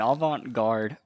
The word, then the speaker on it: avant-garde: showcases the metamorphosis of his organs in an avant-garde? Is that how you pronounce it? Yeah. Okay. In an avant-garde performance.